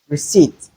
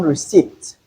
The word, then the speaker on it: receipt: position final position then in some words we can have the silent P as in psychology psychology receipt there's not receipt there's no P sound in receipt though we have the letter.